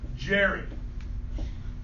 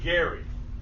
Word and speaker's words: Elbridge Gerry: And the governor's name was Elbridge DGE Elbridge Gerry or Gary. Elbridge Gary Jerry. All right. Now, Yeah, you got it, Jerry. I've heard it pronounced both ways.